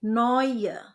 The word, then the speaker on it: neue: Eu dibaca oi jadi neue.